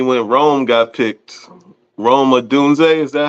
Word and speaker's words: Odunze: Rome Odunze, is that how you say it?